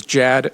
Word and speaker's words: Jad: My name is Jad like Chad with a J if that's helpful.